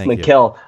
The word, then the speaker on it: Mikal: I love your take on Mikal Bridges. I think that's how you pronounce it, yes, isn't it? Oh, God, yes, Mikal.